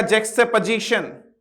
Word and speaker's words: juxtaposition: तो प्रोनाउंसिएशन इसका होएगा जैक्सटेपोजिशन।